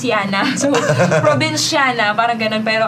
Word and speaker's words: Jana: Pero kasi, Yeah, ang it's name ko Jana. kasi, sa Europe kasi, it's pronounced as Jana.